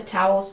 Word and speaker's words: towel: Ow. like cow and how towels. The second syllable has a dark L with a tongue near the back of the mouth. Like call and wall.